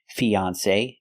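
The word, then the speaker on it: fiancé: those today for example these two words they're pronounced exactly the same fiance fiance fiance the same pronunciation e the long e like green beans Fe then the second syllable is on on like on and off F fiance with a long a like say or pay say Fon fiance example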